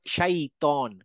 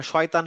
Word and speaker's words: শাইতন: থেকে সুহাদা তারপরে হচ্ছে শাইতন শাইতন আমরা শয়তান শয়তান বলে আসলে শয়তান না শাইতন তো এই ছিল চারটা